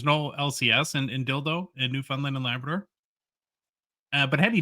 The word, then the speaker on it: Newfoundland: Second of all, it's Newfoundland, not newfound land. It's not three separate words. It's one word.